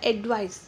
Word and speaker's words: advise: ADVISE ये एक verb है और यहाँ पे इसका प्रोनाउंस होता है एडवाइस, और ADVICE जो होता है वो होता है नाउन। इन दोनों में थोड़ा सा डिफरेंट होता है, इसके लिए सेपरेट वीडियो